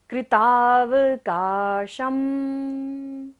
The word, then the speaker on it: कृतावकाशम्: र सीधा खड़ा वाला होता है, लेकिन कृतावकाशम, श के ऊपर बिंदी है और फर्स्ट लाइन का लास्ट वर्ड है, तो बिंदी का उच्चारण क्या होगा? म।